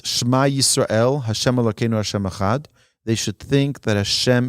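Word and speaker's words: אחד: One should be cautious not to distort the word echad. Sometimes people, in their intention to pronounce it properly, say the wrong word. They'll say echad, or they'll say echad. Be careful to just say echad.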